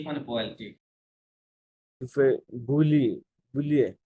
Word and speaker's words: bouillir: To এই fry boiling on grand বুইয়ে, casserole হ্যাঁ bouillir বুইয়ে, bouillir হুম, bouillir to boil নাকি বুইয়ে মানে বয়েল, ঠিক to bouillir bouillir না, double L uh, silent, double silent, বুইয়ে, bouillir bouillir হুম, uh,